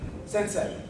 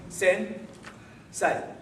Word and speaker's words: sensei: Everyone say sen. Say. Sensei. That remained 2 syllables, but there was a pause in between, right? Hey. Wrong. As in, that's not how we say the word.